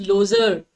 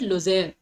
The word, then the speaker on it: Lozère: It will not be pronounced Lozère as it can often be called, but it will pronounce with the pronunciation, the stress on E. So we'll have to pronounce it Lozère.